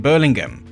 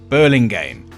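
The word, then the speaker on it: Burlingame: Paul's Parish in Berlingum. Hold on before you comment. I just checked. It's pronounced burling game.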